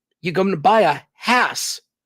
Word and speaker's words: Hass: hesitation people tell me Haas and to think that we would take a word that ends in a double s rhymes with pass like Hass and for some reason